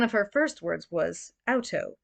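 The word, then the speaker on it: Auto: her first words was outto properly pronounced out toe like you stubbed your toe and capitalized of course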